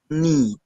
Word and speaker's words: knee: see the next one k n the silent so don't pronounce me it will be that our man told you here so it will be that knee will be that knee